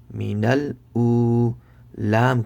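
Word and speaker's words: من الأولى: So noon lam zabar nal, minal, hamza waw pesh u, minal u, Lam kari zebra la. Minal ula. Make sure to stretch the waw sakin for 1 second.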